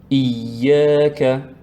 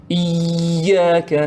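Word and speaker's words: إياك: Certains, ils le prononcent sans shadda. On voit ici shadda. Donc, c'est pour appuyer un petit peu, insister sur la lettre ya.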